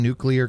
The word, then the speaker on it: nuclear: Cover underneath a table or Are you pronouncing nuclear correctly? Just fro us Brits. Nuclear. Nuclear. Nuclear. It says n u c l e a r. nuclear. Nuclear. Nuclear. It's like clear but newer.